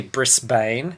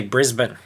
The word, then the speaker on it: Brisbane: ] spell mm-hmm but we here don't say brisbane know which is how it is spelled yes we say brisbane brisbane same reason Mel been so imagine that